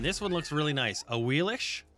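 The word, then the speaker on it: Ahuizotl: A Wheelish is actually how you say it, but I like a Wheelix because it just makes my brain happy.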